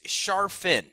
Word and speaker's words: Charfen: Yeah, and I want to, just in case I mispronounced it, your last name is Charfen, right?